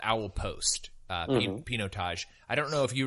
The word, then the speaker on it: Pinotage: and I think we used to call it P noted I believe it is actually pronounced pinot Tosh so that is the wine I am reviewing